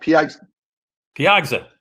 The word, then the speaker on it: Piegza: before edward is that am i pronouncing it correctly where we lost edward michael's still here where do you got it right piagza right welcome to the